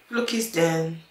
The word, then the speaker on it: Flookiesden: pronounce the name, so I decided to highlight the den, so people know that it's like a hub. It's Flookies hub.